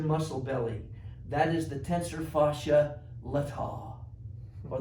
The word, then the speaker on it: tensor fasciae latae: belly that is the tensor fascia latae or the tensor fasciae latae got to put the emphasis on the right syllable kind of get a